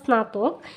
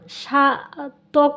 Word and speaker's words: স্নাতক: এখন স্নাতকের উচ্চারণটা যদি আমি করতে চাই তাহলে দন্তস্ব সংযুক্ত নফলা আকার স্নাতক, খ স্নাতক, এইখানে কিন্তু স্নাতক, এইখানে কিন্তু নফলার উচ্চারণটা হয়েছে স্না, স্না, সাতক হয়নি, সাতক হয়নি, স্নাতক হয়েছে স্না, দন্তন্য, এইখানে কিন্তু নফলাটা